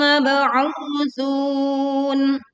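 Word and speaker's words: مَبْعُوثُونَ: Mab'u, kita pantulkan ba sukun dengan suara pantulan yang jelas.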